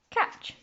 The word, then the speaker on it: catch: So it's got a t in it, which is silent because we don't often say that letter. So k, a, ch, catch.